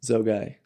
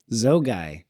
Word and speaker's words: Zogaj: Zogai. Zogy.